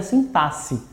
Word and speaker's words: sintaxe: nome do assunto é sintaxe beleza é estranho mesmo que é com x e sem a presença de dois ésses pronuncia assim passe beleza não pronto Sim